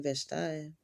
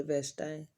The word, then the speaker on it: Vashti: become queen, because Queen Vashti, or Vashti, however you like to pronounce it, I say Vashti, but she wasn't obeying the king's orders, okay?